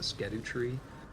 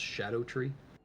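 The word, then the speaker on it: Scadutree: tree fragments, or the Skedu tree, is actually supposed to be pronounced Shadow tree.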